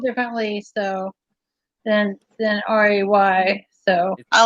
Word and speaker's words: Rhea: Yeah, but it's spelled differently, so than RAY. So I like Right. that. Is it REI? it's RHEA. RHEA. Well, it could be Rita, but we pronounce. I was raised with it being pronounced Ray.